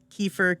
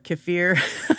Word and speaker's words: kefir: Kefir kafir. I think either one is fine.